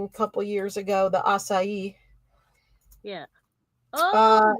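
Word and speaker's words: açaí: It's a acai.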